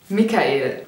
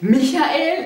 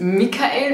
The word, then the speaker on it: Mikael: und zwar ist es Mikael es ist auf jeden Fall nicht Michael es ist Mikael mir ist besonders wichtig